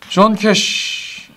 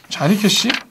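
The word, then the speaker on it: Johnny Cash: 아이고 존 캐시 도노반. 아하 존 캐시. 근데 뭐 우리나라에서는 별로. 자니 캐시? 자니 캐시구나. 자니 캐시라고 하네. 존 캐시가 조니 캐시. 어 발음 이상해.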